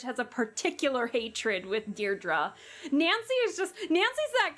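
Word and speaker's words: Deirdre: Dear Dra, I know it's got that tricky second syllable.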